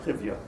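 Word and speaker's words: חיויא: Chivya is I think the right way to say it.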